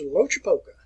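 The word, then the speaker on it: Loachapoka: And he was born in the year 1840, 16th November, and I learned how to pronounce his name right outside of Auburn. And the name is Lochapoka, Alabama.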